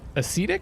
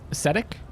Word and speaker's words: ascetic: personally not too lavish he did seem very acidic it's a c dick right that's how you pronounce that ascetic you're right he's very ascetic okay he's reasonably